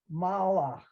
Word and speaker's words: malach: Those last 3 words, you need to absolutely come to a dead stop after the L sound so that it's mal, ach. Okay, Because the way you said it, it sounded to me like malach. And if I were taking dictation, I would want to write it with the M, the L sound, and then the huff sound without the aleph in the middle.